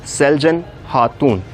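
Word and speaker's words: Selcan Hatun: be the vibe of good or do is Celgene ha tune in Turkish language C is pronounced as G so you need to pronounce her as Celgene heart tune and Celgene is having a beautiful sister who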